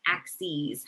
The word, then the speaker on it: axes: you actually pronounce it axes so um you've got your multiple plural form of axis of your x and y axes that you pronounce it with a long e at the end um so our x-axis